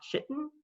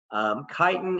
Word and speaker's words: chitin: this word is not chitin people I could mispronounce it it's Chi like the Greek letter Chi chitin is a polysaccharide that